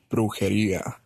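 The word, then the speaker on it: brujería: How you pronounce the word? It's brujeria.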